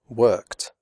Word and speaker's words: worked: After unvoiced sounds such as k, p, f, and s, the final ed is pronounced like t, as in the word hot.